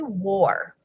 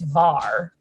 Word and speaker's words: Wahr: war because it's actually war war yeah is how we pronounce it technically it's var but right i speak german you know that i